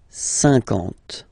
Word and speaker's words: cinquante: Okay, remember that you've got this QU, but then you don't pronounce the U. And then you've got the nasal un, and then en. Cinquante.